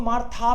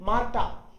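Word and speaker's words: Martha: मैंने रूल बताया आपको, एच अगर बीच में आए तो साइलेंट होता है, तो हो सकता है आप इसको मार था पढ़ जाओ, इसको पढ़ना है मार टा टा, क्योंकि एच तो बीच में साइलेंट होगा।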